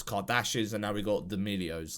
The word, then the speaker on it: D'Amelio: Then it was Kardashians, and now we got D'Amelios. Like, are they called D'Amelios? Like, what the fucking name? What's their name? I don't know. D'Amelio. Yeah. You're saying it right.